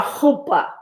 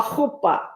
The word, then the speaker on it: chuppah: So in Hebrew, your CH is not a ch. It's guttural. So that would be a chuppah, a chuppah.